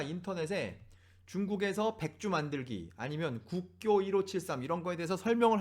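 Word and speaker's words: 國窖: 이 글자도 우리가 분명히 조라고 발음할 수 있는데 이걸 조라고도 부르지만 교라고도 부르자고 해서 우리는 이제 이 상표를, 이 술의 상표를 국조가 아닌 국교 1573이라고 부르고 있는 것이죠.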